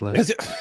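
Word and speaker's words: Leicester: It's probably Lester and you're like there's there's too many le there's too many letters for that to be Lester. Lester. That's it. It's Lester.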